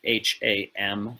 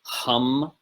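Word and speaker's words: हं: please be aware that h a m in sanskrit is always pronounced hum not ham right so the the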